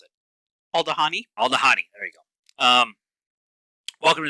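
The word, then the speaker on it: Aldhani: How do we decide we were going to pronounce it? Aldahani.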